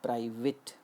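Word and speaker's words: private: देखिए, जैसे हमने वर्ड लिया प्राइवेट, बोलते हैं हम इसे प्राइवेट, लेकिन इसका सही उच्चारण है प्राइवेट। ये जो ए है, ये ए का उच्चारण नहीं करके ई का करता है। The sound is प्राइवेट।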